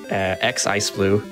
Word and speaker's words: xIceblue: And you can find me at Twitch, Twitter, xIceblue. The X is silent.